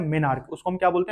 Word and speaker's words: menarche: देख लीजिएगा spelling, मेनार्क।